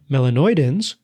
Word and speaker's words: melanoidins: that can be formed which we name melanoidins which sounds a little bit like melanin which you might know is the pigment in your skin that gives it that color.